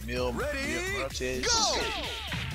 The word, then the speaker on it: Mil Muertes: Mil Muertes.